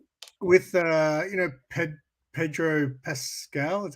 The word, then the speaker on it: Pedro Pascal: not about um with uh you know ped pedro pascal that's how you say his name uh they're